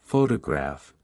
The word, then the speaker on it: photograph: For example, in the word photograph, the stress is on the first syllable, while in photographic, the stress shifts to the third syllable.